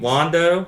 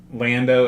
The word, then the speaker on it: Lando: we've switched we've switched care weird ways of pronouncing these name Wando Leah how do you pronounce it Lando and Leia like they're supposed to be math